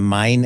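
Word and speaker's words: Main: The South uh the mine era I pronounce it mine because it's named after the German river of mine and then we have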